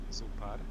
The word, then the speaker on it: зоопарк: Ударение на вторую О.